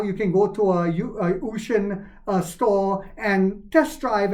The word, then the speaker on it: Uxin: with uxin no son we did not because usan that's the way it's pronounced ux i n uh is the largest